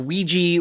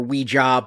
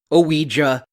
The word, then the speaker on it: Ouija: so it is pronounced ouiji or ouija but it is two syllables. I also found myself pronouncing it Ouija for a little while and that is most certainly wrong.